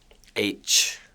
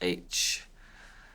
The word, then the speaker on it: Aitch: H, like the letter H, H.